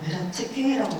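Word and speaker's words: Vereckei: 이분이 베레츠켈이라고 부르더라고요. 헝가리 사람이라고 해서, 헝가리 무신이신데 이거 발음을 잘 몰라서 좀 찾아봤더니 베레츠켈이라고 부르는 게 맞다고 하더라고요.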